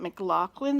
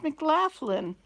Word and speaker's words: McLaughlin: Oh, it's not McLaughlin, it's McLaughlin.